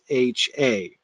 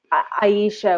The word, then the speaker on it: Ayesha: Like a lot of people would say it's Ayesha or Ayesha, yeah, it looks like a consonantal Y rather than a vowel Y, the way it's fit. But anyway, the audiobook reader did read it as two syllables.